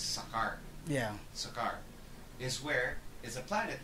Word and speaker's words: Sakaar: It's spelled kasi Skaar, so it's Sakaar.